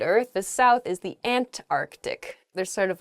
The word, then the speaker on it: Antarctic: saying this word quickly you might leave out that first c in the antarctic so don't say that don't do that say antarctic the the very very